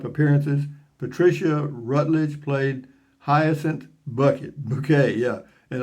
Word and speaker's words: Bucket: patricia rutledge played hyacinth bucket bouquet yeah and always insisted on pronouncing it bouquet because it sounded classier in her younger days patricia